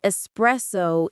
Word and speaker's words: espresso: And espresso is not espresso. There is no X. Yes, if you say espresso, the barista will not fight you, but inside they will cry a little.